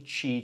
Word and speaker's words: Qi: for the pump so this is technically a qi charger which is spelled Qi believe it or not and that is the